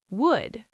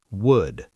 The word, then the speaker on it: would: W A L K walk could, should would None of these have an L sound. Could, should would I hear learners say should all the time very common mistake.